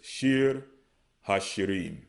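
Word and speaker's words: שיר השירים: Okay, so you have Shayar, Hashayarium, the Song of Songs. Okay, they pronounce it as Shir Hashirim.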